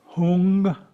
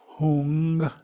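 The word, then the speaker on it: Hūṃ: The syllable in English pronounced hung, hung.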